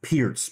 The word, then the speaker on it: Pirc: the perk defense of course right it like perk out he said okay American perk right but pirc is actually pronounced Pierce p-e-r-t-s right or Z and but it's pronounce